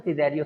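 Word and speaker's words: Cesario: सिज़ेरियो, है ना, सिज़ेरियो, जो उसको कैसेरियो भी पढ़ता है लेकिन सिज़ेरियो सही प्रोनाउंसिएशन होना चाहिए।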